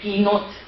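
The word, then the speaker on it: קינות: Pero la tradición judía, ¿okay?, se sigue diciendo que debió ser kinot, que quiere decir lamentación. Kinot. Sí. Eso es como se pronuncia, porque la palabra hebrea pues se escribe de una forma, pero es cómo se pronuncia.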